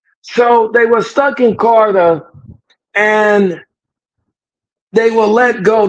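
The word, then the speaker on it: Qatar: It's Carter. It's a Carter. The pronunciation.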